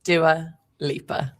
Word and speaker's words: Dua Lipa: How is Dual Lia pronounced? Da Liper.